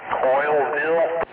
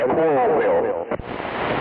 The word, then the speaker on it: Coralville: Coilville? Yeah, like coral reef. Spelled the same way as coral reef, but it's Coralville.